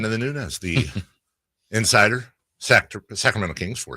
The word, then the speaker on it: Nunes: You're a Nunes, not a Nunez.